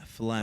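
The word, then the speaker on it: phlegm: you spell it then no you said pH to get the F to get the sound I'm checking the pH balance right now p h l e g m Flem oh FL that's a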